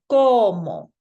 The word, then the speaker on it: como: We go to the second to last vowel to give our pronunciation kind of emphasis, a little bit of extra pizzazz. So I'm going to sound this out like como.